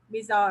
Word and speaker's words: bizarre: Bizarre.